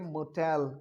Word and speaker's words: motel: अगला लिखा हुआ है मोटेल। क्या लिखा हुआ है? फिर से बोले। देखिए मैं जब सामने आपके पढ़ाता हूं तो मैं इसके प्रोनाउंसिएशन को क्लियर कर रहा हूं। इसे बोलते हैं मोटेल।